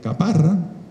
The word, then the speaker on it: Caparra: quería decir al cónsul aquí le decimos caparra sin acento en en extremadura y